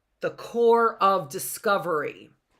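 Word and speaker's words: Corps: would be called the core of discovery the P here is silent right the P there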